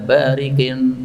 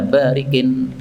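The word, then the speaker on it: بارق: Asyuhada ala barikin nahrin bibwil jannah. Nah, salah bacanya tadi, Pak. Ini bukan bariki nahrin ya. Ala barikin.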